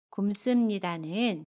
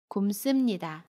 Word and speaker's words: 굶습니다: 굶습니다는 굶습니다 라고 발음해요. 겹받침 리을 미음 중에 두 번째 받침 미음으로 발음해요. 그래서 굼이라고 발음하고요. 습은 씀으로 발음합니다. 굼습니다.